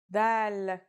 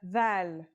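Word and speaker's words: ذال: This letter is like the th sound in the word this.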